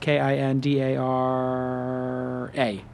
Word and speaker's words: Kindara: them some feedback uh kandara it's spelled k i n d a r a kind Ara